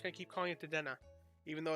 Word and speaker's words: Dedenne: I know it's pronounced Dedenne, but I don't care.